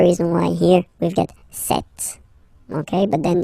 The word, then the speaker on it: cet: So you can notice that phonetically these two are pronounced the same way.